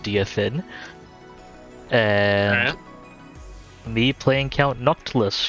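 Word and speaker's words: Direfin: with jason playing silestra dear finn it's apparently pronounced dfin and me playing count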